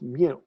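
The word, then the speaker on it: μ: Now, this U with the hook is pronounced mu.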